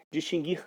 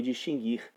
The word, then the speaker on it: distinguir: Distinguir sempre foi distinguir, mas é muito comum nós ouvirmos por aí distinguir, como se um dia tivesse havido aí o trema sobre a sílaba guir.